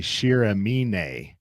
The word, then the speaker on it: Shiramine: I've learned from some of the people on Tar Hub Discord that it's actually Shiramine is how you pronounce that in Japanese.